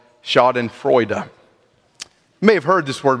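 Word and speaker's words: Schadenfreude: suffered with the bouts of what is called shod and frea may have heard this word before maybe you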